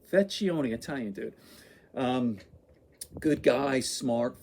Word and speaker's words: Vecchione: How do you pronounce his name? Vecchione, Italian dude.